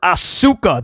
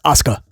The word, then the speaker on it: Asuka: He just mispronounced her name when he called her Auka that time. Come on, dude. Bro, there's casual wrestling fans that that that know how to pronounce it as Asuka, right?